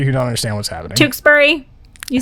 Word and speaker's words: Tewksbury: made it really oh my gosh you're from tewksbury tewksbury massachusetts nailed it yeah okay that's the right one i couldn't see it for a second uh so for those of you who don't understand what's happening tewksbury you say tewksbury tewksbury is spelled t-e-w-k-s-b-u-r-y this